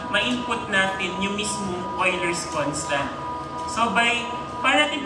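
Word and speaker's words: Euler: s constant or number Bakit siya oiler kasi german yyan german na word kaya oiler constant yung pronunciation Okay so ano yung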